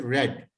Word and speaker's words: read: I have, when we talk about past tense, read would be pronounced as read.